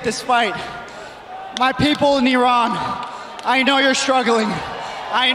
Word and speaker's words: Iran: off the mat like a basketball but it's pronounced Iran yes Iran Ariana Grande is Italian-American Italian so keep in